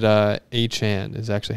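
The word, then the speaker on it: Achane: uh we should all know he scored it's a chain that's how everyone's been saying it for years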